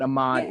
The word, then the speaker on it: Ahmaud: I said it right. Ahmaud is right.